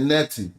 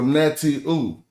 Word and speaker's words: netiu: So netiu, not I was just saying netti, but they're telling me to pronounce this as a oo at the end. So netioo, if you notice that, and the oo represents plurality.